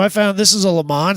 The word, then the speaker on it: Le Mans: So I found this is a Le Mans, it's not a GTO, which the GTO is just an option package of the Le Mans. So It's pronounced Lemo, but yeah.